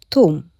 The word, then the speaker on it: ثوم: ثوم but we pronounced it توم.